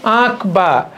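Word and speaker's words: আঁকবা: একে প্র্যাকটিস করে যাবা আকবা চন্দ্রবিন্দু আছে উচ্চারণটা হবে আকবা এই ছবিটা আকবা বাহ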